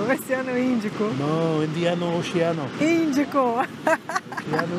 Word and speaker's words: Oceano Índico: Oceano Indiano? No! Índico, Oceano Índico.